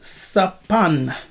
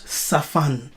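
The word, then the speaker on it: צָפַן: It's the word sapan. Here. Yes, it's the word sapan. Sapan, which they pronounce safan.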